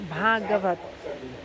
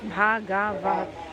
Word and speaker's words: Bhagavat: So Bhagavat, four syllables. Bhagavat.